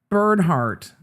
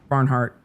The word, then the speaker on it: Barnhart: Dina Birdart. Sorry. And then you got Dina Bird. Yeah, she said it wrong. It's Dina Barnhart.